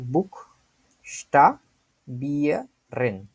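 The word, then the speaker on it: buchstabieren: বুক এইটা একটা অংশ, তারপরে স্টা, তারপরে হচ্ছে মানে বুক, এবং তারপরে স্টা, তারপরে বিয়া, তারপরে হচ্ছে রেন। ঠিক আছে?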